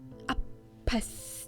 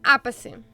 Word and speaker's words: apathy: I was washed over by some sort of heinous apathy. А апатия у вас куда ударение? Apathy. Угу. Вот это как-то сложно, конечно, когда похожие слова, типа по-русски апатия, но у них apathy.